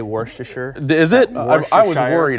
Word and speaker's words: Worcestershire: That's the right way to say Worcestershire.